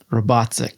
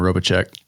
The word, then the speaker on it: Robatcek: How do you say your last name? Robots. Robots. Yep. I I was thinking Robek.